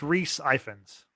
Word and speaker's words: Rhys Ifans: Otto Hightower, which is played by, and I can never pronounce his name, it's a very Irish name, I think. Rhys. No, it's Rhys Ifans.